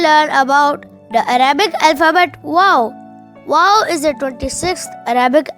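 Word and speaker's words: واو: hi my name is wow wow you can spell wow in English as w a o w wow it's sounds like the English alphabet w w for wallet w w how to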